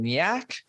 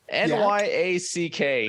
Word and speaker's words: Nyack: into a house in Nyack, New York. I think I pronounced that close to okay enough. N-Y-A-C-K. Nyack. Okay. Sure. It's probably Nyack. Oh, okay. Sure. I'm calling it Nyack. It's a better name.